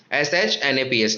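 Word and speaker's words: Schnapps: देखो यहाँ पे pronounced pronounced as snaps, SHNAPS, snaps, a German drink made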